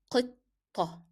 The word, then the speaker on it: قطة: the first word is قطة. You see how I pronounce the first 2 letters because they are 2 hard sounds. It is pronounced as قطة.